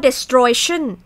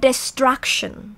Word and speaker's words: destruction: เป็น คำ นาม ปุ๊บ ไม่ อ่าน ว่า The thracian อ่าน ว่า destruction The สตรัคชั่น ตอน นี้